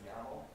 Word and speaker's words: YAML: It's pronounced YAML.